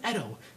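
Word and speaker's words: Etcho: I didn't kill anyone my name's Edo that's spelled e t c h o but the CH is silent I didn't ask for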